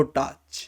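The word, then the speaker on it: 太刀: है बानकाई ज़ंका नो टाच। I know TACHI होता है, टाची होना चाहिए, पर एनिमे में सब टाच ही प्रोनाउंस करते हैं।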